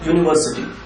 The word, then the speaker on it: university: one more example starting with you that is University what do we use for University well the